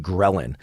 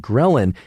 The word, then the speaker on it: ghrelin: And it's called ghrelin. It's spelled GHRELIN.